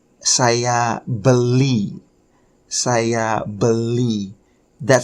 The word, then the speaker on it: beli: Beli. Okay, beli. Beli is spelled B-E-L-I.